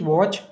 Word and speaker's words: watch: WATCH वॉच, वॉच मतलब होती है घड़ी, वॉच में टी साइलेंट है।